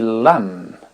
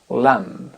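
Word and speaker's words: lamb: let's go lettre B la consonne B ne se prononce pas dans les mots qui termine en MB avec les lettres m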